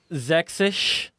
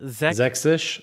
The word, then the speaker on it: Sächsisch: Sächsisch. Uh-huh. Is that what they call it? Sächsisch.